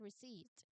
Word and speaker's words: receipt: Despite having seven letters, as you can see, when we actually pronounce receipt, we only produce five distinct sounds. So, let's examine the explanation provided on this slide to understand why. Okay, the P is silent, L makes one sound, E makes one E sound.